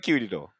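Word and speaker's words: Kirigoe: it's like Kirigo, like Kirigo, because you don't pronounce the e.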